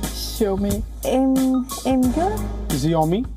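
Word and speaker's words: Xiaomi: zo me shall we the correct pronunciation is show me Asus it's ashes hey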